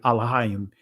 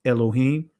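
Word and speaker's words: אלוהים: you'll see the phrase wa amar haya yahawah or excuse me alohayim uh in the Israeli language is pronounced Elohim and I want to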